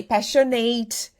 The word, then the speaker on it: passionate: Because we so desperately want to pronounce the eight. We want to say passionate, accurate, duplicate, and no, you're not going to pronounce the eight.